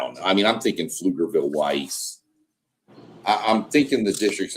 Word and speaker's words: Pflugerville: Pflugerville. People that don't understand, Pflugerville is spelled PF. I gotta go back. Yeah. Pflugerville. Pflugerville. So the P is not there, but it's there when you write it.